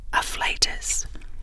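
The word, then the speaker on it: afflatus: It is pronounced art fle with a stress on the second syllable.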